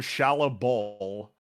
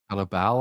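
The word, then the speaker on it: Shalla-Bal: And the Silver Surfer stops upon hearing her name, Shala Ball. Or Ball? Ball? Shala Ball, I think.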